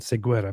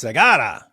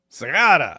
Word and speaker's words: Seguera: Heroes Workshop, Charlie Kirk moved the chair in the past, and David Seguera became David Wood. It's Segara. Segara. We were pronouncing it wrong when we were saying Seguera. Seguera.